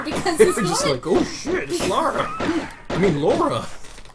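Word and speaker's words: Lara: rug it stars uh lauren croft i i hold no no let me look this up hold on no no no no no no wikipedia says it's pronounced laura oh nora croc i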